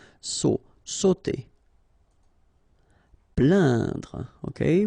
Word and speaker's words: plaindre: Plaindre. Okay, when you combine this A-I-N, you will get the sound un. So really, this nasal sound in your nose. Plaindre.